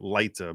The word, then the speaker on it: lite: restraining order, or pendent lite in Latin, which is basically it's relief pendent lite, which is or some people pronounce it lita because it's spelled L-I-T-E, but basically pending litigation, which basically means this is the relief.